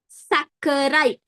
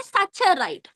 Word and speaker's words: saccharide: name starts with mono saccharide. Some people they say saturide. Wrong. Pronounce it properly. Saccharide. Double C.